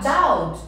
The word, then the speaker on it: doubt: Doubt, ó, o P não é pronunciado, a gente fala doubt.